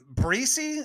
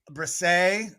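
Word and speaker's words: Bresee: Breesy is how you say his name? Brian Breesy, I want to say. Bresay. I believe is what I've heard his name pronounced as. I can't say for sure, though.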